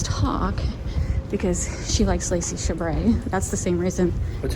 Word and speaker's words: Chabert: So she got an individual ticket to see the stars talk because she likes Lacey Chabert. That's the same reason. What's her name? You tell me. Lacey what? Chabert.